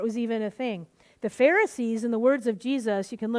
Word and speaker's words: Pharisee: We're going to look at the Pharisees today. Just remember, Pharisee rhymes with, hey, look at me.